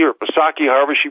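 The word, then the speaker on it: Psaki: how bad it is next biden hack jen saki or posaki harbor she pronounces it trashes president trump for policies and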